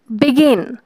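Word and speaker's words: begin: যেমন relax, decide, বিগিন। দেখো, তুমি যদি রিল্যাক্স বলো প্রথমে রিটা অনেক রিল্যাক্সে উচ্চারণ হচ্ছে, অর্থাৎ এখানে তেমন একটা চাপ পড়ছে না।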